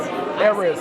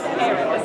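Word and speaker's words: arayes: That's the chicken Ares. Oh, the chicken. What is it? How you pronounce it? Ares. Ares, yeah, that's it.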